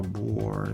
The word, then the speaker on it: Bohr: Neil's bore was the physicist portrayed by Kenneth Bra on Alen. So, bore is spelled B O H R and sword becomes wrong.